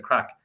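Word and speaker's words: craic: we were up in shop Street having the crack from fagus having to crack play music right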